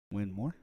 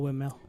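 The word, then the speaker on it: Winmau: Winmore? Oh, yeah. That's how you pronounce it. Is it really? Yeah. It's still windmill.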